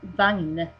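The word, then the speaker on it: vagn: and then in Swedish we just call them Vang was that um that word v is spelled uh simple V the W okay v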